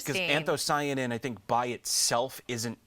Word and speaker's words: anthocyanin: Um I think I remember how to pronounce this one. It's anthocyanin.